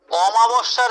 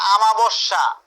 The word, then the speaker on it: অমাবস্যা: অক্কা পাও দাগ দাও, অদৃষ্টের পরিহাসে দাগ দিয়ে রাখো, অন্ধের জ্যোষ্ঠী মার্কিং করে রাখো, অমাবস্যার চাঁদ, অনেকে উচ্চারণ করে আমাবস্যা, এটা কিন্তু আমাবস্যা না, এটা হচ্ছে অমাবস্যা, এটার অর্থ হচ্ছে দুর্লভ বস্তু।